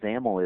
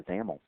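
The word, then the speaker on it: XAML: is determined by the zaml um by the way zaml X m l is the is the acronym there and that's pronounced with a you know rhyming with camel so let's go ahead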